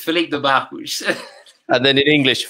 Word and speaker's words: Filipe de Barros: In Portuguese, Filipe de Barros. And then in English, Filipe de Barros.